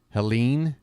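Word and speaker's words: Helene: hurricane folks again hurricane is it Helen or helain there's an e on the end of the name how are we pronouncing this Helen or helain but either way uh my thoughts go out to uh anybody affected Helen Helen okay Helen yeah I used to live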